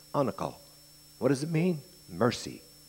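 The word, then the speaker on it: anacal: word spelled a n a c a l pronounced anle what does it mean Mercy quarter figuratively surrender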